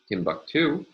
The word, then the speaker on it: Timbuktu: And a third example, Timbuktu. Here, we have a primary stress on the final of three syllables.